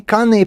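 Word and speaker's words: kāne: Kane, pronounced kane means male or man in Hawaiian.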